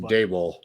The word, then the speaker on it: Daboll: It's pronounced Daboll.